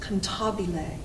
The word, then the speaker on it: cantabile: word means no i love this word it's pronounced cantabile looks like cantabele i know pantebelliano or comptobile